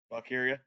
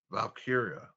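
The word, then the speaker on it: Valkyria: Um Val man, how do you pronounce her name? Valkyia. Valkyia.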